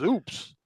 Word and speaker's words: UPS: UPS is pronounced as oops. So there you go. It's oops.